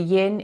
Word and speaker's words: yin: The yin is the rhymes with dim. That's how I remember it. Like the yin, the softer side where you can relax.